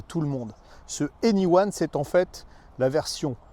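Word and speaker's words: e:Ny1: bas de l'image là ça se prononce anyone pour ceux qui parlent anglais ça veut dire tout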